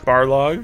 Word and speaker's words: Barlog: Especially, like, I stumbled upon the video of, how do you pronounce his name? Corey Barlog? Barlog, yeah.